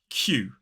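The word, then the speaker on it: queue: I know looks like q but it's actually pronounced q q now Qing in Britain is pretty much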